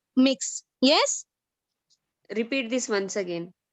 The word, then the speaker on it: Mx: is used okay mx mx how it is pronounced it is pronounced as mix once again mix yes repeat this once